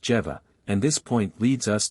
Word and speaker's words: Jehovah: by the letter Jodi whence Jehovah should be pronounced jeeva and this point leads